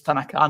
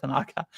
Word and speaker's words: Tanaka: The pronunciation is Tanaka, not Tanaka.